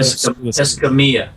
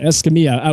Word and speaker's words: Escamilla: Sorry, Escamilla. Escamilla. See, it's almost Italian. The two L's are pronounced like a Y. All right, Escamilla.